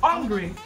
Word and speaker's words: hungry: Like, I think the H, you people think that the H is silent and hungry. But then it's not. Because It's H-U-N. Yeah. And in phonetics, the U is pronounced as an A, so I'm hungry.